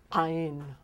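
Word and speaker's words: Ayin: olive if i were to say iron it's ein ein comes from deep this is what catches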